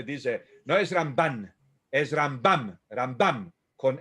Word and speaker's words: Rambam: entre el Ramban y Rambam, porque las mujeres pronuncian la mem final como nun. Shalom, shalom. ¿No? Así que tanto Rambam se hace Ramban.